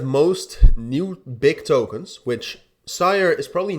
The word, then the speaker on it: 5IRE: be the launch of sire or five that's how you spell it but I've always thought you pronounce it as sire uh new project wanted